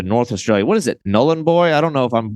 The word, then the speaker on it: Nhulunbuy: What is it, Nhulunbuy? I don't know if I'm going to pronounce that right. Yeah, it's. I'll try my best. It's a bit of a tricky one, but Nhulunbuy.